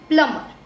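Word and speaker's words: plumber: एक साथ आता है, हमारी मोस्ट सी ऐसे वर्ड्स होते हैं जिसमें एम और बी साथ में आता है, तो उसमें जो बी होता है it will be silent. Okay it will be silent. It's प्लम्बर.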